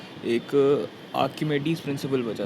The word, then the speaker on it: Archimedes: एक आर्किमेडीज़ प्रिंसिपल बचा था। इसमें एच साइलेंट रहता है, आर्किमेडीज़ प्रिंसिपल कहते हैं इसको, ठीक है।